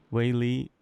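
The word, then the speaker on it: Weili: lot of champions recently huh even with uh waily waily right that's how you pronounce it yeah yeah yeah just super fortunate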